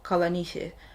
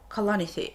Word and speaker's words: Kalanithi: Actually, the stressing is different. It's not Paul Kalanithi, it's Paul Kalanithi, and it's taken me